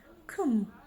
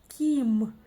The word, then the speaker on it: кім: Кім, снова палочка с точкой. И вот если бы мы прочитали через «и», «ким», было бы совсем-совсем мягко.